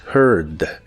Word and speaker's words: heard: una J suave y en este caso no se pronuncia la A, así que la palabra suena como heard, pero con tu lengua lo más atrás que puedas y debe sonar como monstruo.